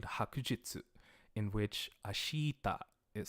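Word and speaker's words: 明日: the vowel sound ashita the E kind of disappears as you're speaking quickly and it just becomes ashta so I'm trying to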